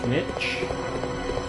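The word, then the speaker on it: Snikch: I think it's pronounced Snitch, S-N-I-C-K-H, and it's supposed to be like the sound of a blade, you know, whenever like Wolverine's claws pop out, where it goes snicked or something like that.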